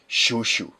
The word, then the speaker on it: Chouchou: H it's it's released as a Cho, but the pronunciation is Shushu. Okay. I always called him Shushu.